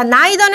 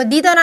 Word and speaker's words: neither: 자, neither는 안 돼요. 이거 neither나 neither라고 발음하는 건데 neither는 안 되고 왜?